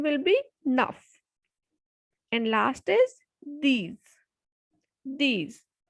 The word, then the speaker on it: neuf: Because in my previous video, I told you that when a word ends with consonant C, F, or L, then it will be pronounced completely. So the pronunciation will be nuff.